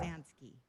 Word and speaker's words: Pruzansky: I love that his on Facebook, it's Seth Leaf Pruzansky. Did I say it right? Yep. Yeah. Pruzansky.